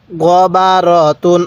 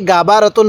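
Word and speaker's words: غَبَرَةٌ: তা দুই পেশ তুন গ বা রতুন অনেকেই গা বাবা রতুন পড়বেন এরকম ভাবে পড়বেন না আমি যেরকম ভাবে বলতে বলছি আপনি সেভাবেই বলবেন তাহলে বলুন গইন জবর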